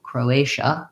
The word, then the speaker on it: Croatia: And finally, Croatia sounds like the word crow. I have my o vowel, and then my another tense a, and then the TIA says sh with a vowel schwa. Croatia, second syllable stress, so short, long, short.